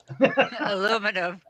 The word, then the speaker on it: aluminium: America um so Ian how would an American pronounce aluminium Alum aluminum aluminum I do catch myself the hard time